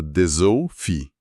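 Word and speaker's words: Dessewffy: Outro exemplo ótimo é verse, que soa como verse, ou o meu favorito, deseu-fi, Esse parece impossível. que se pronuncia desou-fi. Aquele SS vira um som de Z, e o W e FF se transformam num Fi.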